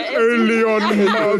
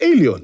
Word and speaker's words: Elon: It's pronounced Elon Musk. And then you look, you go, No, but that's the thing, right? Like, because who's in Trump's ear that's a South African right now? It's Alien.